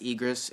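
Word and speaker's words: Aegrus: I think I'm pronouncing that right. Yeah, it's Egris, and Sir Hammerlock invites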